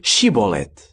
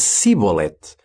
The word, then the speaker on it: Shibolete: Se ele respondesse não, obrigavam-no a dizer Shibolete. Mas se ele dissesse Sibolete, porque não era capaz de pronunciar corretamente a palavra, então prendiam-no e matavam-no ali mesmo.